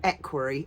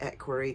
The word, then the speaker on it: equerry: Harry, or as an equerry — I prefer to pronounce it equerry than equerry. I feel my dad always said equerry, my mum always said equerry. I prefer to say equerry.